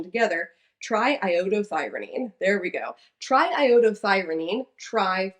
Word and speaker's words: triiodothyronine: me because we're going to get through this pronunciation together, triiodothyronine.